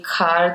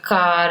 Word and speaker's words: Khar: first moved to Bombay to say Khar the right way. Because in the south, you don't have the syllables which, have an H. There's no hard B, there's no hard H.